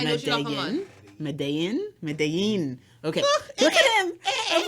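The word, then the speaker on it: Medellín: And then Colombia, also their food, but I never pronounce this right. Medellin? But it's two L's, so it's a Y. I know what you're talking about. Medellin.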